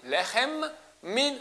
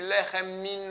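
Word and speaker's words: לחם מן: Ha Motzi Lechem, Lechem finit avec M. Min Haaretz, il y a un deuxième M. Il faut bien les prononcer les deux. Hamotzi Lechem Min Haaretz. Je dis deux fois M. Pas dire Hamotzi Lechem Min Haaretz. On fait la liaison, c'est comme s'il y a un seul M.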